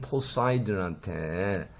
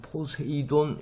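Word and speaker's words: Poseidon: 그러니까 네레이즈가 너무나 화가 나서 그 다음에 그 당시에 바다의 가장 황제인 포사이돈한테 포사이돈 우리도 이것도 포세이돈 이렇게 발음하죠. 영어로는 포사이돈입니다.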